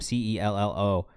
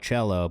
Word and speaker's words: Cello: Cello Miles on Instagram, CELLO Miles. I know it's spelled like cello, but we've been through this already in the chat. It's not cello, it is cello.